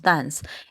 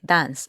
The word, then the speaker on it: dance: escritura termina en e esa e no se pronuncia es decir en su forma infinitiva no pronunciamos la e sino que pronunciamos Dance es decir esta última partecita se pronuncia como una s Dance no decimos Dance sino